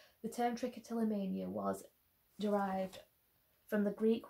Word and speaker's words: trichotillomania: So the second question is how to pronounce. So it's Trichotillomania, and it's really long and really silly.